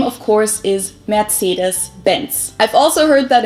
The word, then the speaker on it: Mercedes: it mercedes germany so most americans call this mercedes in german we pronounce it mercedes so mercedes versus mercedes yeah how y'all pronounce